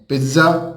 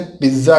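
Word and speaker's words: pizza: अब देखिए दोस्तों, ये पिज्ज़ा जो होता है इसका प्रोनाउंसिएशन पिज्ज़ा करते हैं अपन, लेकिन इसका होता है पिज्जा, टी आता है इसमें। यूँ समझ लीजिए कि आप यूँ बोलिए पिज्ज़ा, एक जेड को टी बना दीजिए, पिज्ज़ा होता है ये, पिज्ज़ा नहीं पिज्जा होता है।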